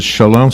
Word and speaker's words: Sholem: But we pronounce it Shalom, so we're mispronouncing it's it, the same.